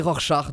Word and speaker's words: Rorschach: voir comment alors effectivement c'est plutôt une prononciation allemande qui propose alors écoutons bien tous ensemble OK et propose une autre prononciation d'après les prononciateurs Allemands voilà c'est rorschard du coup il a raison c'est un prénom allemand oui mais même s'il